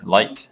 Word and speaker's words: light: So if you remember some words like wrong with a silent W, or right with a silent G, light, silent G.